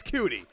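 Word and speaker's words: Coutee: People tell me it's Cutie. I don't really believe it.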